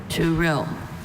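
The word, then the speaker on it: tourill: To rill. Are there any alternate pronunciations? There's just to rill.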